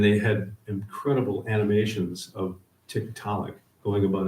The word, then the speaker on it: Tiktaalik: Since Inuit elders had granted them access to their Arctic lands, they consulted the Inuit, who gave it an easily pronounced name, Tiktaalik.